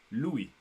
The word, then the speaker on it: Louis: while you read what Louis is saying. Louis says, thank you. You're very welcome, Do you want to practice say Louis in French? Louis. I said Louis. You're saying it with an S.